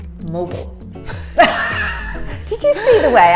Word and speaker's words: Mobile: the cell phone a mobile phone but that is incorrect it is mobile did you see the